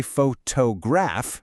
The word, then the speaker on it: photograph: For example, we say photograph, right? The beat is on that middle syllable.